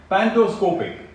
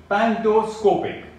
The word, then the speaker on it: pantoscopic: of an object differ in size it is pronounced as an iciconia word number three pantoscopic pantoscopic pendoscopic tilt is a measurement taken that analyzes